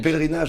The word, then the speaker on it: pèlerinage: How do you say it in French? Non, pèlerinage en français.